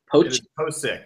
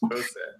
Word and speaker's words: Posick: Or how do you say his name? Posick. I've got confirmation. Yes, Posick.